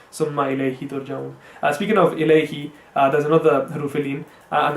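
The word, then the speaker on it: إليه: So we have I and ao, and you have to make sure that you go from a to e and a to u, rather than just mixing it into one sound.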